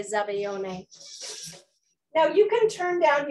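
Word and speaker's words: zabaglione: so um super cool in french it's called zabaeon but in italian it's zabayone now i was married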